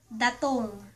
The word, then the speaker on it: datung: And also there's ----- there's a slang word for money, and that's ----- Datung.